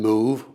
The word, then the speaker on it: move: Words like prove and move were pronounced prov and mov.